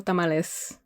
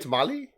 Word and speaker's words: tamales: And then plural tamales. Okay, that's it. Tamalei don't make no sense. Can I get tamali?